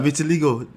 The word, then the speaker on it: vitiligo: Vitiligo. Vitiligo, right? That's how you pronounce that.